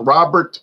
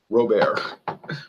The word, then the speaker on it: Robert: here a king Robert or as they say louisiana robear you might say oh look Robert supermarket but it's robear pronounced robear i still can't get